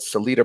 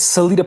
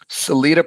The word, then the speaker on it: Salita: life which we're going to hear about called salida productions which is now the president he's got a whole uh crew of boxers now including um claris shields that i pronounce her name properly it's selita promotions and the fighter's name is clarissa shields